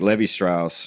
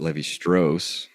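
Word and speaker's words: Lévi-Strauss: and then someone like Levy Strauss who or I guess we should pronounce it Levy stros right wrote about M and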